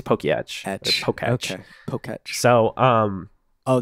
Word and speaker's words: Poketch: Well, it's supposed to be a watch, so it can't be tech. Oh. And it's ETCH, so I think it's Pokeyetch.